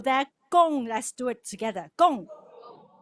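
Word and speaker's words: 恭喜: you can just yell it out the first syllable there gong let's do it together gong all together go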